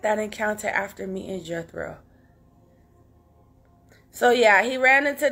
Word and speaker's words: Jethro: by amen if you don't know Jethro okay Jethro that's how you pronounce it Jethro was his father-in-law and he